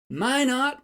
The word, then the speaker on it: Minot: Minot, North Dakota. Now, don't get carried away with your French accent. This town's name rhymes with why not, accent on the first syllable.